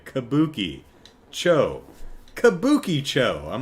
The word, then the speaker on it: Kabukicho: Uh, kabuki cho. Right, right. Kabuki cho. I heard someone say it as kabuki cho. I was like, what? Kabuki cho. Yeah. K A B U K I. Kabuki Cho.